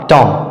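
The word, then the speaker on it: tomb: कॉम कॉम आगे है टी ओ एम बी यहां पर भी एम के बाद बी आया है तो इसमें भी जो है बी साइलेंट होगा और इसका सही उच्चारण होगा टॉम आगे है एल आई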